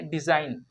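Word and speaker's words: design: इसे हम लोग डिजाइन पढ़ेंगे। क्या पढ़ेंगे? डिजाइन। डिजाइन पढ़ेंगे तो ये गलत हो जाएगा, क्योंकि यहाँ पे जी साइलेंट है।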